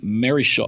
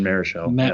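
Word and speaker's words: Marichal: We, Sam and I are here in the Juan Marishaw. Marishaw, Juan Marishell, Juan Marish.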